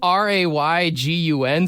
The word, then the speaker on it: Raygun: Now, it's spelled Raygun, so I'm not sure if it's Reagan, but it's Ray gun, That's right?